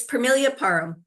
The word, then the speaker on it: Permelia Parham: How do you pronounce yourself? It's Permelia Parham, right?